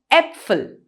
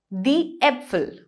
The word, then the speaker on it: Äpfel: That's exactly how A with 2 dots on top of it is pronounced in German. An example here would be Äpfel, die Äpfel, which means the apples.